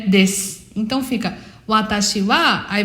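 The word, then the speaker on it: です: Você vai falar Watashi wa nanana desu. Watashi wa nanana desu. Esse desu, ele também é pronunciado como se não tivesse o u. Des.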